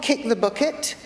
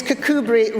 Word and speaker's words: Kirkcudbright: Not Kick the Bucket, as some people pronounce it. It is Kirkcudbright Rotary Club, South West Scotland.